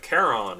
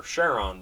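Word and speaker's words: Charon: hey we even have caron or cheron depending on how you pronounce it uh nine hit point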